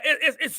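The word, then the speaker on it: aïe: Yeah, it's universal. It crosses borders. In Spanish, it's pronounced I, A-Y.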